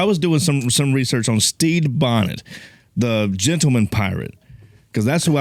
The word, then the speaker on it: Stede: So I was doing some research on Stede Bonnet, the gentleman pirate, Because that's who I